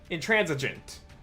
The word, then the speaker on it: intransigent: Intransigent. I saw that he used J in the pronunciation.